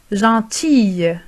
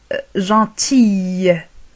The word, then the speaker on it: gentille: بالنسبة للمؤنث نضيف L E وننطق حرف L في الأخير تصبح gentille. تصبح بحرف الياء. تنطق بحرف الياء في الأخير.